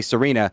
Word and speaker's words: Serena: times this season because the name christina is now a main character in the show and your name rhymes with that i can there's worse